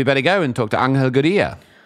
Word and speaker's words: Angel Gurría: All right, guys, we better go and talk to Angel Gurría. This is the way I would pronounce his name.